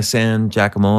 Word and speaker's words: San Giacomo: Yeah, San Giacomo.